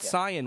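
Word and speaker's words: Saiyan: said kaio-ken yes he said and but but cyan was never said sign it was always always saying since the conception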